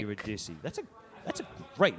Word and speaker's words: Eurydice: And pronouncing it Yeah, 4 yeah. times and like... Eurydice.